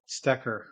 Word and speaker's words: Stoecker: Stoecker. There's a lot of people. Stoecker. Yeah. Thank you. Yeah, in my mind, I'm going Stoecker.